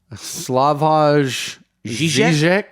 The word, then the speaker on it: Slavoj Žižek: His name is, well, Levi, you can pronounce that. Oh, wow. Slavoj Žižek?